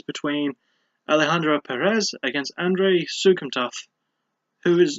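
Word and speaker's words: Souksamthath: So I had no idea how to pronounce it beyond Soukhamthath, which sounds really weird and funny to say, but it's Sukumtath, so I now know how to say it.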